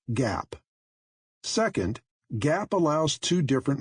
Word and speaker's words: GAAP: accepted accounting principles or gaap pronounced Gap second Gap allows two